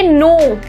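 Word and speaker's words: know: N word आ रहा है तो जैसे इसको प्रोनाउंस करेंगे नो नॉक नाइफ नाइट जो के के साउंड है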